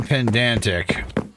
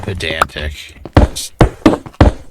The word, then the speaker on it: pedantic: If I was being pendantic, I'd add these. I was just thinking that. And yes, I'm aware it's pronounced pedantic.